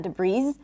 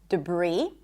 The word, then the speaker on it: debris: The S is silent in debris, not debris, debris, and also in the word bourgeois.